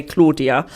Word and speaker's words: Claudia: called cloudiest kitchen now we British we say Claudia all right but she pronounced it cloudy so we're going to